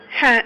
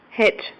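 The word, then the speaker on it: ح: Ha initial, middle, and final. Ha. And it's not like it's in here. Het. I pronounce it like ha. No. Ha. Like you're a snake.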